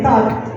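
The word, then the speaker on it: так: Good, once again, tak.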